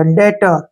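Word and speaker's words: debtor: बी टी ओ आर फिर टी से पहले बी आ गया बी को हमने नहीं पढ़ना है डी से क्या बन गया डे ठीक है और टी का उच्चारण ट हो गया ओ आर का उच्चारण र हो गया डेटर क्या पढ़ेंगे इसको डेटर डेटर मींस क्या होता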